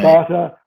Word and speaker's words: Tabata: But I do a lot of circuits, as you know, and I developed a new one based around a Tabata. Is that how it's pronounced? Yeah. Tabata workout.